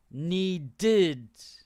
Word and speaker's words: needed: needed look at this so when a word ends in a d or a t like this the pronounce the pronunciation is of the ed is like this um id so the past simple tense or simple past tense so the ed we say one tid needed okay wanted need did